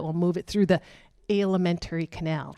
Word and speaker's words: alimentary: That's the stuff that will move it through the alimentary canal. That is the word I mispronounced. I said elementary.